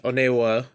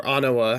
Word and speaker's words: Onewa: From 81 down to 90, and Onewa, or Anawa, however you want to pronounce it, is the last 3 cards, so 88 to 90.